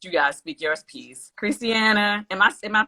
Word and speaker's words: Kristiana: before we let you guys speak yours peace christiana am i am i pronouncing your name right yes huh christiana christie